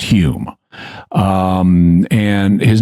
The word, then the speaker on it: Home: steroids yeah so Dei his name is spelled uh home but it's pronounced Hume um and his name was Daniel dunglas Hume he was a 19th